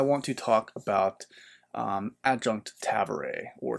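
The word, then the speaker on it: Tavore: Next up, I want to talk about Adjunct Tavare, or Tavor. I think the audiobook pronounces it Tavare, so if I say Tavare, that's why. A lot of people say Tavor.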